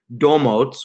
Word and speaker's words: Domotz: starting to say it we say dough motes but people often ask